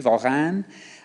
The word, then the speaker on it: Warin: His name was Jean Voran. It's pronounced with a V. Varane.